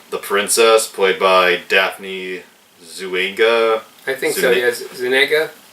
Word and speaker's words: Zuniga: princess, played by Daphne Zuniga. I think so, yes. Zuniga? Yeah. Daphne Zuniga. Yeah, that's how you pronounce it.